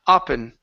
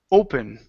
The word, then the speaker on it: open: the word open okay with this word you were saying upin with an ah sound instead of up in the word is Oh open open good Roberta waited for